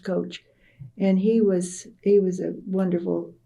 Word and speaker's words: Koch: Coach, and it's spelled Koch. Now that spelling is called Coke. And it's interesting to me, but his name was pronounced Coach.